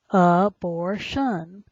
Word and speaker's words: abortion: t the next word is that t i o n always has the shun sound abortion a b o r